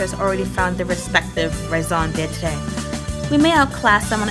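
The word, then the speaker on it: raison d'être: Raison d'etre. The trust, okay. It isn't quite what you had in mind, but raison de trust. I'm so sorry. Raison d'etre.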